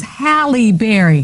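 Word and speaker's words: Halle Berry: to say This Woman's name her name is halberry I tell you haly you said something no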